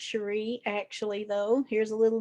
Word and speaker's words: Cherri: Well, But um, I didn't know it was pronounced Cherie, actually, though. Here's a little another tidbit about your favorite podcaster. I grew up thinking my name was Sherry because my grandmother is very southern and she mhm.